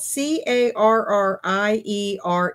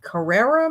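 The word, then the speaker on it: Carriere: his name correctly uh it's spelled c a r r i e r e Carrera maybe or Carrier his name is Chip carrier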